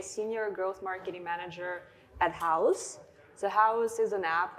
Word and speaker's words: Houzz: But next up, we have Xenia Kupriyanova at houzz. This is the hardest part, is pronouncing her company. Honestly, I've been practicing all day. Houzz. I know it, I use it, but I always want to say house.